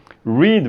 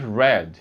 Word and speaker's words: read: Então, read, verbo ler, é presente. No passado você diz read.